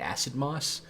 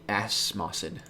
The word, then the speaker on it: Acid Moss: We're going to turn 2 Stone Rain, turn 3 Mon Volley Acid Moss. You said it right. Yes. What did you used to say? Asmosid.